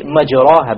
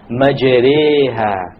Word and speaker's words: مَجْرِيهَا: If you were to not know what an imala is, you would say majraha, but that's a mistake. You have to pronounce it with an imala. An imala is pronounced as this, majreha, majreha. So we will pronounce the verse like this. وَقَالَ ارْكَبُوا فِيهَا بِسْمِ اللَّهِ مَجْرِيهَا وَمُرْسَاهَا مَجْرِيهَا وَمُرْسَاهَا مَجْرِيهَا مَجْرِيهَا. It's not a majri, majra, no, it's in between.